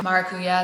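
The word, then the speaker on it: maracuyá: So maracuya, that's how it's said down here.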